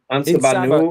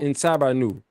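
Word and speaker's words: En Sabah Nur: that whatever timeline it was where he enslave Insha Ma Nu. Is that how you Is that how you say his name? En Sabah En Sabah Nu. En Sabah Nu.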